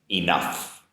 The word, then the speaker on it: enough: and the pronunciation enough so your first sound is an e e sound a b c d e followed by a nuff nuff now you're probably familiar with the spelling it's going to be a gh in the spelling but the pronunciation is an f sound enough the vowel sound for enough is an unstressed uh sound enough enough after that we